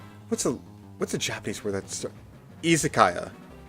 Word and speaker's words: izakaya: Izakaya. Like an isekaya. Isekaya. The letter I is pronounced E.